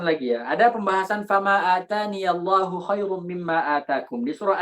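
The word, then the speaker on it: آتاني: Jadi ada ikhtilaf di sini. Ada yang membaca fama atanillahu khairun. Ada yang baca seperti itu. Ada yang baca fama ataniyallahu khairun. Fama ataniyallahu khair. Kita dari Hafiz membacanya fama ataniyallahu khairun, pakai iya.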